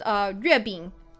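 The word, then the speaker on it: 月饼: So mooncakes in Chinese are pronounced 月饼, literally moon and cake.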